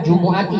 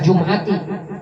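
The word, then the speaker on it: الْجُمُعَةِ: man qala yaumal jumu'ati, yang betul bacanya jumu'ati ya, bukan jum'ati.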